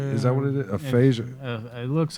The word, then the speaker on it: aphasia: has a disease is that what it is aphasia it looks like i don't know how to pronounce it aphasia no that's perfect he was diagnosed with aphasia